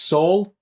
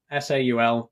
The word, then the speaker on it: Saul: It's pronounced Saul. I'll say that for the record, to rhyme with Paul. So if you were wondering how my name's pronounced, that's it. Saul, Saul.